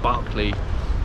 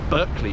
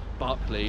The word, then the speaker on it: Berkeley: of this bit of Mayfair would definitely say Barkley but uh people across the pond and in fact also cockneys tend to pronounce it Berkeley rather than Barclay and that probably ties in with the uh